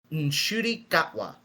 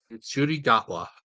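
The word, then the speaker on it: Ncuti Gatwa: interview I saw with him it is apparently pronounced nudi gatwa nudi gatwa okay if you want you can just call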